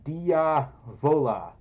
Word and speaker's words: Diavola: Also, his name is pronounced Diavola. Did I do it the first time? Diavola? No, I didn't. Diavola? Diavola. Sounds like Diablo.